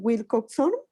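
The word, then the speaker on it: Wilcoxon: profe en la penúltima se pronuncian wilcox son wilcox son y frischmann watson y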